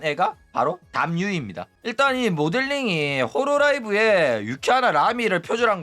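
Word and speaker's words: Hololive: 일단 자주 하는 소린데 조우가 홀로라이브를 자꾸 호로라이브라고 발음한다고 해가지고 자꾸 뭐라고 하는데 호로라이브가 정식 발음입니다. 어 본토 발음이야. 어 자꾸 헛소리 하지 마시기 바랍니다. 앞으로 홀로라이브라고 해. 홀로라이브는 어 발음도 못하는 조선직들이나 홀로라이브라고 하는 거지.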